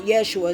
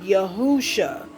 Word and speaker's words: Yahushua: come to find out it's not Yeshua it's like yahusha of how you really say his name and Haru AKA which